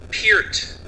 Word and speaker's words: Peart: it neil peart or is it neil peart it is neither neither or another it is piert oh it's very close